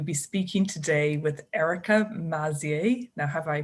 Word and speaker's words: Maizi: really delighted to be speaking today with erica mazzier now have i pronounced your surname correctly amazing amazing crazy amazing